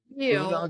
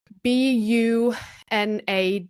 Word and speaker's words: bunad: Is it like bunag, like BOONOG, bunag? BUNAD, bunad. BUNAD.